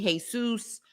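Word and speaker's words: Jesús: Now, of course, in the Hispanic world, it looks like it's spelled Jesus, but it's actually Jesus.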